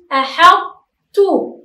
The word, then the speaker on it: أحطتُ: أيضا أحطتُ، أنا لم أنطق الطاء وإنما أبقيت على صفة الطاء وهي التفخيم، أبقيت على صفة الطاء وهي التفخيم.